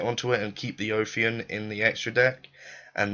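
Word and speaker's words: Ophion: I see a lot of people pronouncing it Oion. Why do you pronounce it Oion? It's not Oian. It's obviously O of anyway.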